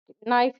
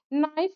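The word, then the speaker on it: knife: Half लिखने पर यल एवं नाइफ लिखने पर के, हाफ लिखने पर यल तथा नाइफ लिखने पर के क्या है? साइलेंट है।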